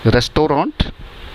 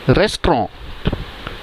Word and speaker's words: restaurant: कैसे प्रोनाउंशिएट करते हैं हम? रेस्टोरेंट? नो, the correct pronunciation is रेस्टोरेंट.